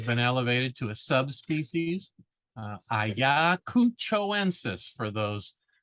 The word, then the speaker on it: Ayacuchoensis: Ayacuchoensis for those pronunciation challenged individuals. It's from Ayacucho. So if you can say Ayacucho, then you just add ensis to the end.